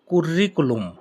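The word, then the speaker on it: curriculum: সিভি এর Italian হল কুরিকুলুম। কুরিকুলুম। অর্থাৎ ইংলিশের মত অনেকটা কারিকুলাম। কারিকুলাম। ইংলিশে সিভি এর ইংলিশ কি? কারিকুলাম vitae. অনেকটাই সেরকম উচ্চারণটা। কুরিকুলুম অর্থ সিবি।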